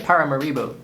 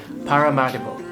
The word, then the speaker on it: Paramaribo: is how I learned the city is actually pronounced I've been calling it Paramaribo in my head the whole time because that's what it looks like written down but no say it with me pararo uh yeah 50 countries this is country number